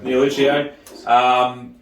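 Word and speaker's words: Nielluccio: Sanj, guys, how do you pronounce it? Neoluccio? Neoluccio. Neoluccio is the Corsican way of saying Sangiovese.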